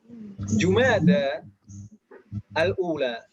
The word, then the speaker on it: Jumada al-ula: Dan di sini perlu diperhatikan mungkin Jumada al-ula, Jumada al-akhirah. Ini kita banyak salah kaprah ibu-ibu. Biasanya orang membacanya Jumadil awal. Jumadil akhir. Itu salah.